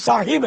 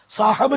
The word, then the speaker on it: صاحب: حضرت صاحب, حضرت صاحب, اصل تو تلفظ صاحب ہے, صاحب, صاحب نہیں ہے, صاحب.